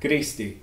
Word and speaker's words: Griaß di: also try and use the local variety of Grüß dich, which sounds something like Grüßti, depending on where you are.